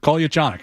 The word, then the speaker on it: Kolyachonok: He says, you really can't pronounce it wrong. It's Russian. There's no English pronunciation to it. I was like, okay, great. I said, well, how do you say it? He said, Kolyachonok.